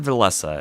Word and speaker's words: Villese: I've always said Villese, and from what I've heard, that's the correct way of pronouncing it.